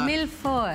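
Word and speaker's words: mille-feuille: Millefoy. Millefoy, but it's spelled like millefoy.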